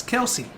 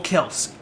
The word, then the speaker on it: Kelce: I was going to say Travis Kelce. Or Kels, as it's properly pronounced, apparently.